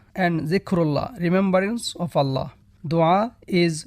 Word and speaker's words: dua: Dua pronounced dua literally means a request, invocation or supplication.